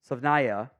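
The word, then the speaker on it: Savaiinaea: Jonah Savnaya, yeah, that's how you pronounce it.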